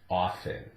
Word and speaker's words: often: And it's changed somewhat over the years, but now it's accepted as a silent T, often, often.